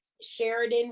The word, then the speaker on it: Sharidan: So on Instagram, my screen name is at Sheridan, which is spelled SHARIDAN underscore underscore KC.